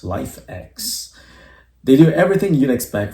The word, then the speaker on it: LIFX: a worldclass pair of LFX balls pronounced life X they do everything you'd